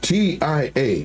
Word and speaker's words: TIA: TIA is pronounced Tia. So you were right. So like my tia Alicia. Hey guys, here's my tia. I always say TIA. Tia.